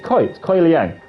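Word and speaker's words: Kuai Liang: Because we know that Scorpion, Kuei Liang, is that how we pronounce his name? Kuei Liang? Kai Liang? He's Kai. It's Kuei Liang.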